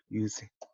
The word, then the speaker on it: 유세: 유세. 우리 선거에서도 유세란 말 많이 쓰는데요. 100페이지에 5줄 나오죠. 올유자고요. 이때는 말씀설이 아니라 달랠세라고 읽고 있습니다. 그러니까 유세, 선거 유세 이런 것처럼.